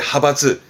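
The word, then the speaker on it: 派閥: 자이바츠, 재벌의 자이바츠, 학벌의 가크바츠, 파벌의 하바츠.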